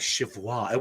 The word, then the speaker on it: Cheviot: You have to pronounce it like Chivwa.